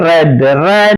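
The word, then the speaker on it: read: മാത്രമാണ് ലീഡ് ലെഡ് റീഡ് റെഡ് ഉച്ചാരണം റീഡിന്റെ ശ്രദ്ധിക്കണേ past form past participle form spelling ഒന്നാണ് പക്ഷേ ഉച്ചാരണ വ്യത്യാസമുണ്ട് റീഡ് റെഡ് റെഡ് എന്നാണ് ഫീഡ് ഫാഡ് ഫാറ്റ് സ്പീഡ്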